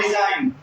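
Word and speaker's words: design: क्या लिख यहां पर डिजाइन एल से पहले जी आ गया ना तो जी को पढ़ेंगे नहीं पढ़ेंगे तो क्या पढ़ेंगे इसको हम लोग डिजाइन पढ़ेंगे ठीक है डिजाइन मतलब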